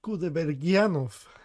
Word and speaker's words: Кудайбергенов: Димаш Кудайбергенов. Вот как это произносится на русском.